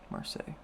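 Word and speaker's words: Marseille: for mar mar Marse Marse that is how you pronounce that marsel yes we'll come back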